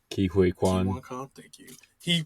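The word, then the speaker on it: Ke Huy Quan: Surprisingly, the main character, freaking I don't even know how to say his name, K1 Khan. Ki Hui Kwan.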